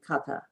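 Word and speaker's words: kantha: those are called uh it's spelled k and t h a cutter and it's thought of a nasal n so it seems like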